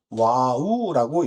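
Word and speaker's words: ו: 첫 번째, 여섯 번째 단어는 과부 또는 와우라고 읽고, 예, 그, 뭐죠?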